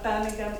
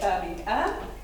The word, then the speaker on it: Birmingham: For those of you that don't know, I'm from Birmingham, England. And notice the word Us Brits say Birmingham, and Americans tend to say Birmingham.